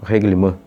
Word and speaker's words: Règlement: basta ler o seu reglim". Existem algumas pessoas que pronunciam reglimanã.